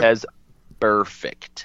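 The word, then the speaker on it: Vontaze Burfict: Can you pronounce that name one more time? Vontez Burfict.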